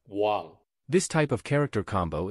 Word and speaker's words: 網: character W dead underneath think of it like saying W to sound out wow this type of character